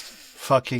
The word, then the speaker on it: Pho-King: because it's spelled Pho-King Champ, which we So pronounce fucking pho, champ.